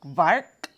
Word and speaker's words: Quark: what it says about quark it's pronounced vark i don't know it's german i can't do it it's a fresh curd